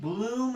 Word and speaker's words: Goldblum: Is it Bloom or Blum? Jeff Goldblum. Bloom is what I hear. Some people like to say Blum. It is spelt Blum. I think Goldblum himself would say either way.